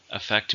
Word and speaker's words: affect: Affect means have an influence on something or somebody. Make something change. It's a verb. How many syllables are in affect? 2. Stress in the second.